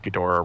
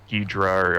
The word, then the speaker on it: Ghidorah: excited when King and he said Ghidorah wrong he said like Deedra or or some he's